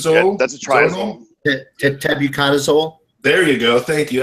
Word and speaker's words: tebuconazole: Tabucazole? Yeah, that's a triazole. Tebuconazole.